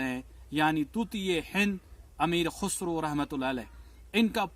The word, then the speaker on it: خسرو: کچھ لوگ ان کو خسرو پڑھتے ہیں، کچھ خسرو پڑھتے ہیں، کچھ خسراو پڑھتے ہیں، لیکن ان کا جو صحیح تلفظ ان کے نام کا ہے وہ ہے خسرو.